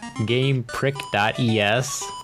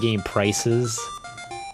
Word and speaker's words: GamePric.es: GamePrick.es. It's supposed to be Game Prices, but they put the dot between the C and the ES.